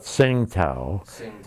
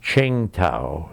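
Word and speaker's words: Qingdao: called we call it singtel the proper name is Ching Tao the Chinese pronunciation and there's a very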